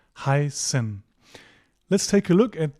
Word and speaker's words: heißen: Whenever you see this, don't panic, just treat it like an S sound, "heißen."